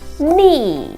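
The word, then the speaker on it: ニ: Jadi dua garis ini kalau dalam bahasa Jepang itu bacanya adalah ni ya.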